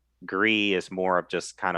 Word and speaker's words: Gris: recommended a game called gris game chris oh gree oh yeah it's a french game and that one i